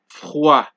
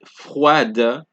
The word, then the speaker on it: froid: Example: froid, chaud, d'accord, right? For D, froid, chaud, d'accord. So it's not froide, it's not chaude, it is not d'accord. It is froid, chaud, d'accord.